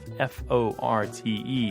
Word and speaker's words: forte: settling the debate over the pronunciation of F-O-R-T-E, meaning point of strength. She's decided that everyone who says forte will live west of the Mississippi, and everyone who says fort will live east of the Mississippi.